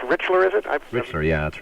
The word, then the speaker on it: Richler: enough I'm a big fan of oh it's pronounced Richler is it mister yeah that's right but boy